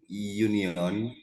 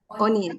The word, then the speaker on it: onion: any union? Bukan union. Kalau union itu serikat pekerja ya. Onion.